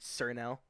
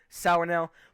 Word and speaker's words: Sour Nail: By the way, it's called Sour Nail. I don't know why people pronounce it Sir Nail. Just get that out of the way. Sour Nail.